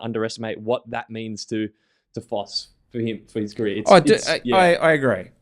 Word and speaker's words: Foss: Foss, is it Foss? Why do I keep saying his name wrong?